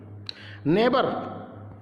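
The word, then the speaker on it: neighbour: नेबर, नेबर देख रहे हैं, नेबर के अंदर हमने GH को साइलेंट कर दिया, तो इसे नेबर पढ़ेंगे, GH नहीं पढ़ेंगे।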